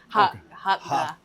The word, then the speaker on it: Hakka: I'm like, it's in the back of your throat. Like, that's how you say Hakka.